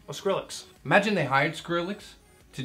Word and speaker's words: Skrillex: Imagine they hired him, like Skillrix or whatever the hell. How do you say his name? Oh, Skrillex.